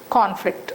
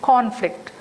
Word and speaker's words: conflict: So the first syllable takes longer, first sound is longer and louder, conflict. Suppose if that is used in verb's position, conflict, this con becomes reduced, conflict.